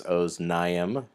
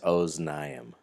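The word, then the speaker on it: אזנים: And remember that "-im" ending at the end of the word is a clue that the word is dual, and also always gets the accent, so it's oznaim.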